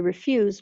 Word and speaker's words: refuse: refuse refuse refuse refuse so there are a couple of differences here in these words the first is the accent on the syllables so in the first word refuse where's that accent which syllable refused refused it's on the second syllable refused and the second word refuse refuse so the stress is on the first syllable for that word refuse so listen to